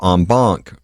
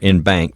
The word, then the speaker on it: en banc: And after that, though, you can do a special procedure that's called en banc or en banc, depending upon how you want to pronounce it, where you have all the judges of the Federal Court of Appeals.